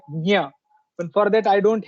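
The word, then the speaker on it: ज्ञ: Just like Dnya, Maharashtra it is pronounced like Dnya, the na ya. In north it is pronounced like gya, and in south it is pronounced like gna. So as per the logic and the letters which are there present in that particular conjunct consonant, I can say that it should be pronounced like nya.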